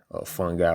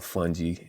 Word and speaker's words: fungi: fauna, like plant life, fungi or fungi, as some pronounce it, and algae.